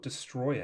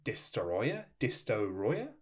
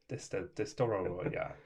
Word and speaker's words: Destoroyah: I always thought it was Destroyer. And that makes sense. There's the Oxygen Destroyer and there's Destroyer. But it is spelt with multiple O's. and I think it's Destoroyah, but I just get inside my head, and I think there's way too many O's and R's than there are.